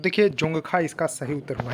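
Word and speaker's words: Dzongkha: सा है, तो देखिए जोंगखा इसका सही उत्तर होगा, लेकिन इंग्लिश में देखिए डी साइलेंट है, तो जोंगखा इसको करेक्ट उत्तर होगा।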